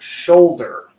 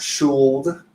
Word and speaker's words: should: three words is that the L that you see in those words is silent so the pronunciation is not schooled cooled or ruled okay